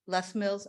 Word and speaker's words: Les Mills: do you say it lay Mills for the uh best meals less Mills okay I wasn't sure if it was like French less bills for the